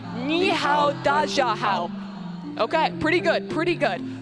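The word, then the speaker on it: 你好，大家好: It's ni hao, da jia hao. And I know my pronunciation isn't great, but first with the desk, can you guys try and say that?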